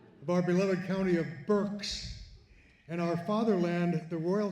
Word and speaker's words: Berks: Of our beloved county of Burks and our fatherland, the royal county of Barks.